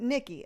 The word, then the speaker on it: Nietzsche: again exactly okay okay it's spelled nietzsche but i pronounce it nikki okay perfect i was